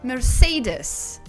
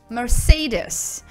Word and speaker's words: Mercedes: близки оно произносится как mercedes mercedes обратите внимание что ударение стоит на втором слоге нас сейды спамим шейлис